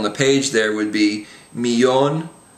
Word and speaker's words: millón: So the words we have on the page there would be millón, amarillo, and llama.